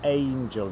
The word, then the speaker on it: angel: Mówimy angel. Wyraźnie jest A na początku. Nie E, nie E.